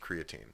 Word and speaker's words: creatine: also the official masonomics position is it is pronounced creatine I've I've realized I've been fluctuating between creatine